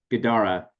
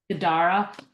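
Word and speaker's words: Guidara: Gadara. Gadara.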